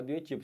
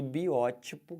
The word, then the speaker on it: biótipo: E o pessoal fala biotipo. Se você falar errado, você não vai acentuar, porque se você fala biotipo, né? Esse aqui é a tônica, essa seria a tônica, você não colocaria acento. Mas sendo biótipo, que é o correto, a palavra fica proparoxítona.